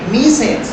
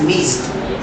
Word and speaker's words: missed: people make mistakes like miss it well it's incorrect so the rule the pronunciation sound is t see even though it has letter e d letters e the pronunciation is meaty it's missed it's very important you